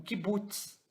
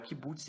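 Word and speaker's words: קֻבּוּץ: veem aqui em diagonal, ele é o Kibbutz e ele tem som de U. Tanto esse aí quanto o Shurek, né, eles têm o mesmo som, tá? Porque os dois representam a letra U.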